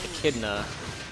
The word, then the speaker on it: Echidna: and what's his name cuz the snake is echidna that's how you pronounce that and then fire demons burial it's